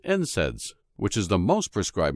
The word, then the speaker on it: NSAIDs: They also discovered that proteolytic enzymes are completely safe compared to non-steroidal anti-inflammatory drugs, or NSAIDs, pronounced NSAIDs, which is the most prescribed medication for treating conditions such as arthritis.